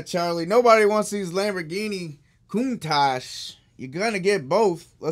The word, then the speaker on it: Countach: all right let's let's put up a couple cantatas huh 1990 these are too loose - loose ones these are pretty sweet Countach yeah said it wrong Countach Hot Wheels Countach 1990 somebody opened me out